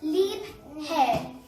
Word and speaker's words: Liebherr: so let's go so we have to pronounce it as lip hair so libre is a